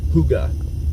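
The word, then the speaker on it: hygge: whatever um check out Huga Huga Vibes h y g g e it's a hotel Yankee golf golf Echo but it's pronounced Huga like the old horns and uh stuff on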